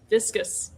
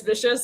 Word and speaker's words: viscous: Glass is technically a highly viscous. Sorry. Viscous. Thank you. I was never getting out of that tailspin, Amanda. So thank you. Because everyone mispronounces viscous vicious, and so I was going to try to help.